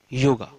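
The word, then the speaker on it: योग: But yoga is English pronunciation of Sanskrit word yog. Pure pronunciation is only yog, not yoga.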